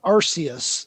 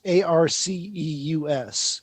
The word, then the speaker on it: Arceus: to read it's it's there's a big debate on how it's supposed to be pronounced actually um uh arceus a-r-c-e-u-s and so it's not sure if it's if it's arceus or arcus or or yeah so